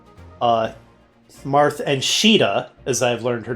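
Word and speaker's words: Caeda: I know about the major characters like uh Marth and Sheeta as I've learned her name is pronounced, not Kada.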